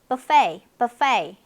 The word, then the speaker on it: buffet: 그리고 뷔페 하지 않고 buffet. 네, 그 다음에 카라멜 아니고 caramel 이렇게 발음이 되고 있고요.